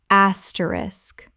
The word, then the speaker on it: asterisk: asterisk common mispronunciation asterisk correct pronunciation asterisk Three syllables with the SK clearly at the end. The K at the end is not silent.